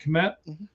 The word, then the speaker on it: Kmet: That's how you say it, Kmet?